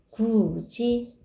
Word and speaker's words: 굳이: 굳이. 이 모음 앞에서 디귿이 지읒으로 바뀌었죠?